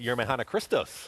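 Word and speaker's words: Yemrehanna Krestos: How do we pronounce that again? Yermehana Christos.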